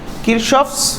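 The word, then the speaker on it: Kirchhoff: তো বাংলা ইংলিশে হচ্ছে কিরশফ হয়, এরপরে কারশফও বলে অনেকে। তো কিরশফটাই এখন চলে আসতেছে আর কি, আর কারশফও বলা যায়। আচ্ছা, বলা যায় মানে অনেকে বলে আর কি, কিন্তু এটার ভিত্তি নেই। তো কিরশফ উচ্চারণটাই হয়, প্রোনাউন্সিয়েশনটা।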